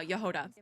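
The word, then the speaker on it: Jahoda: Also, I know how to say her name now, Yehoda. I didn't know if it was a J or like a Y, but it's a Y.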